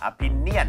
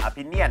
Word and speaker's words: opinion: กับ perspective ต่างกันยังไง เดี๋ยวอย่างนี้นะครับมาพูดถึงการออกเสียงก่อนนะครับเพราะว่าจริงๆแล้วคำสามคำนี้ก็ใกล้เคียงกันนะฮะแต่ว่าเดี๋ยวเจาะลึกในเรื่องการออกเสียงให้ชัดเวอร์ก่อนนะครับ opinion ไม่ใช่ opinion นะฮะ opinion นะฮะเป็น opinion Opinion yeah opinion เหมือนคำว่ามิเลียนนะฮะ1ล้านนะฮะ